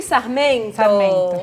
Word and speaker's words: Sarmento: lembram da banha do porco, Como é a pronúncia aqui? Sarmento.